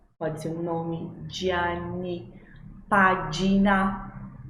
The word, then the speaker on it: pagina: Pagina, pagina, não página, pagina, va bene?